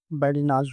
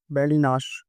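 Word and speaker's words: badinage: अब इसको देखते हैं तो ऐसा लगता है इसके उच्चारण बैडिनाज होगा, बैडिनाज, बैडिनाज, जिसका मतलब होता है मजाकिया बातचीत, लेकिन ऐसा नहीं है। इसका उच्चारण होता है बैडिनाश, बैडिनाश, बैडिनाश। सा होता है पर इस लास्ट में शाह, बैडिनाश, जिसका मतलब होता है मजाकिया बात।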